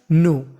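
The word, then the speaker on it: know: मैं आपको बता दूं अगर आपको कभी एन से पहले के लिखा मिल जाए तो हम लोग के का उच्चारण नहीं करते नो व्हाट व्हाट वर्डिक्ट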